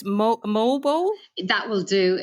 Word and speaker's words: Moalboal: And I'm going to apologize because for me to pronounce it's Moalboal. That will do. It's more of a sort of a Jamaican accent, Moalboal. It's but Moalboal, yeah. Moalboal will do fine.